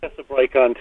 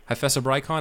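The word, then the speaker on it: Hyphessobrycon: Hyphesobrychon too. Hyphesobrychon.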